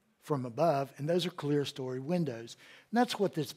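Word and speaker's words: clerestory: Clear story. And it's, some people have pronounced it Clara story, but it's clear story.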